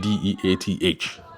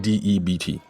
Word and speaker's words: debt: That you said DEATH. And I'll say, no, I'm saying DEBT.